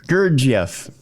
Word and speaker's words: Gurdjieff: Is it George Ivanovich Gurdjieff? Well, we can just talk about Gurdjieff. Gurdjieff. That's good. Yeah. My American pronunciation again.